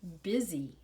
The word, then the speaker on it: busy: We pronounce this like it's a short I sound, We say busy.